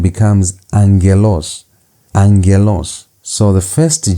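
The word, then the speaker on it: άγγελος: The first G turns into an N.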